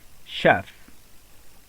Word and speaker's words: chef: Okay, so instead of pronouncing ch as ch, we pronounce it as it is, or we pronounce it as sh.